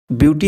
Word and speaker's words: Vuity: इसका स्पेलिंग है VUIT, यानी ब्यूटी और ब्यूटी लगभग प्रोनाउंसिएशन सेम ही है।